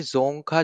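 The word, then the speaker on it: Dzongkha: जा रहा है कि जोखा जो है यहां पे अब देखो यहां पे डी साइलेंट है ठीक है उसको हम यहां पे जोखा पढ़ेंगे जोखा आपकी यहां पे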